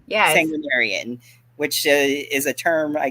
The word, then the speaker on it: sanguinarian: s sangu how do you say that again sangan sarian yes sanguinarian which is a term I guess that they